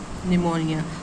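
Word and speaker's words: pneumonia: तो यह है आपका निमोनिया अब निम निमोनिया में पी साइलेंट है।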